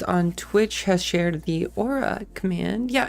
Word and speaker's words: Aurae: in their language um usually I just say Aura because I feel like that is the easiest for other people to pronounce and it's the easiest